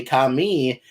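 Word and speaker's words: 髪: in anime, is that depending on how you say it, the word kami means God, but if you say kami and put the emphasis on the mi, the word means hair.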